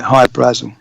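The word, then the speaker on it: Hy-Brasil: My wife says that's how the Irish would, that's how they would pronounce it, High Brazil.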